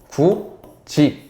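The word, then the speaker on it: 굳이: 그냥 간단하게 설명을 드리자면 굿 2 라고 우리가 글자를 쓰죠 하지만 발음은 구지 이렇게 발음합니다 단순히 그냥 발음을 조금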